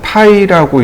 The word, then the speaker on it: 파이: 이걸 뭐라고 부르냐면 파이라고 읽고 지름이라는 뜻으로 바꿔서 해석하시면 됩니다.